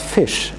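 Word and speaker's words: ghoti: The O, you have words like in women, which is, the O is pronounced like an I. So you have fi. And then the TI is pronounced as sh, like in nation. So when you apply like these rules, you could say, well, you could speak that as fish as well.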